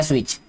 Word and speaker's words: switch: इन द sky, turn the स्विच ऑन, ठीक है, स्विच SWITCH होता है स्विच, जो कि इसमें T जो है साइलेंट है।